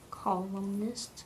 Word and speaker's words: columnist: What's the first syllable? Call. Good. Good. Nist. Perfect. Put it together. Columnist.